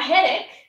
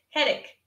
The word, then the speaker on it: headache: So a headache means you have pain in your head. Ouch. That's a headache. Headache. It sounds like stomachache.